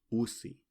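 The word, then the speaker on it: ussi: hizi hizi mientras que la palabra niños con dos ses se pronuncia usi usi Entonces tenemos hosi Y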